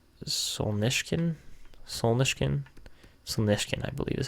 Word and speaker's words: Solnishkin: It's Solnishkin. That's how you say it, Solnishkin.